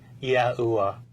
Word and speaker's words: YAHUAH: The sacred name of God was pronounced YAHUAH.